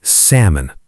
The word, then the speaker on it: salmon: Finally, my friend whispered, "The L is silent."